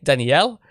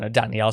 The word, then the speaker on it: Danielle: Like with the ladies, they say like Danielle. With the guys, they say like Danielle. So that's it. Like they just like pronounce it differently. One like a French way, one more like English way, and that's how they